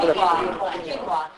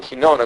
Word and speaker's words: quinoa: I know how to how to pronounce this. How do you quinoa? Quinoa. I call it kona cuz I don't know how to say it.